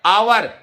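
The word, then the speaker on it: hour: है क्या आएगा एन आएगा एन ऑनेस्ट क्योंकि उच्चारण स्वर जैसा है आवर एन आवर एच ओ यू आर ठीक है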